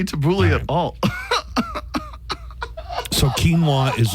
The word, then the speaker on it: quinoa: most commonly mispronounced correct you both said it perfectly quinoa that one's easy uh if you are in the kinoa you are wrong Camp quinoa quinoa what